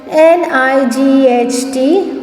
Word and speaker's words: night: NIGHT, night. So G and H is silent.